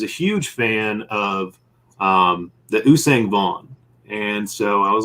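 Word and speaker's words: Yuuzhan Vong: I've been mispronouncing it. I think I always pronounce it Yuvan Vaughn, but I don't know how to pronounce it. That's how I've always heard it, was Usang Vaughn. Okay. That sounds a lot better than what I'm saying.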